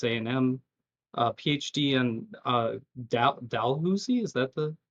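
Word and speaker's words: Dalhousie: degree at Texas A&M, a PhD and uh Dalhusi is that the correct pronunciation? Dalhousy.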